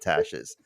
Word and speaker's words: Tash: are my thoughts not tash's she says you're right about the pronunciation of my name at the end Steve it's pronounced like ash but with a t Tash my name is Natasha